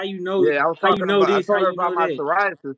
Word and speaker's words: psoriasis: I would have never thought psoriasis was spelled with a P.